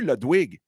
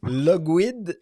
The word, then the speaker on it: Ludwig: Logwid. Comment? Logwid. Ludwig. C'est comme la crème Budwig, mais Ludwig.